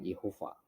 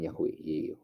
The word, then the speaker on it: Yehova: dari seorang pria Yehova ya bacanya Yehova bukan yahwe yah ya harusnya Yehova